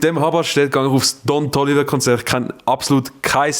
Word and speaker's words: Don Toliver: Ton Toliver. Don Toliver. Der Ton Toliver. D. Ton Sorry, Toliver. ich habe es falsch ausgesprochen. Don Toliver. Ich habe es nicht mit T wählen.